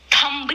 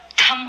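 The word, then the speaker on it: thumb: को ध्यान से देखना थंब नहीं होता है थम होता है थम थम या बी साइलेंट मैं थंब बोलता आया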